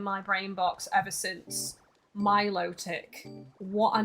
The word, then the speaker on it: Milotic: I actually say Milotic correctly because I was saying it wrong for ages, and then I actually heard how it's officially pronounced and it's stuck in my brain box ever since. Milotic.